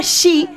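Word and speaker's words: 四: Se pronuncia shi, que significa muerte.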